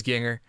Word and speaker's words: Gienger: Nick, I know you told me your name rhymes with singer, so I'm pretty sure it's Ginger.